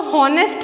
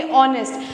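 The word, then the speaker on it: honest: कर रहा है, ऑनेस्ट, हम इसको हॉनेस्ट नहीं कहेंगे, हम इसको कहेंगे ऑनेस्ट, बिकॉज एच यहाँ पे क्या है, साइलेंट है।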